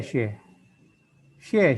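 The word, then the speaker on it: 谢谢: Hao, 下一个谢谢. 谢谢. Yang kedua biasanya dibaca nada ringan.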